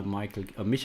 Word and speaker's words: Michael: I think this is one of the masterpieces by Michael Kiesling and Wolfgang Kramer. I'm sorry, that's a German pronunciation for these names. I know you would say Michael, but it's Michael Kiesling and Wolfgang Kramer.